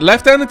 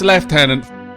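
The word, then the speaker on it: lieutenant: leftenant Commander Rogers and leftenant is the way that that word is pronounced in Britain I know it's not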